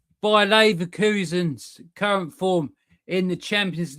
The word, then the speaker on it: Bayer Leverkusen: We move on from that, and we got Bayer Leverkusen.